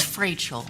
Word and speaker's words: Frachel: It's Frachel. It's Frachel, okay, But so it's a long A.